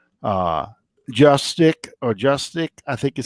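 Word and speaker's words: Juszczyk: Justic, I think is how you say his name for the 49ers. Yeah, I remember. Uzchek.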